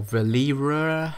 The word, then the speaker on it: Verlierer: the new DLC car, which is the Bravado Verlierer. That's how you pronounce it.